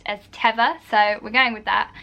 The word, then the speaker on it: Teva: kept coming up when i was googling was tiva or teva i've heard it pronounced both ways i literally googled and on their website they say it's pronounced as teva so we're going with that yeah so that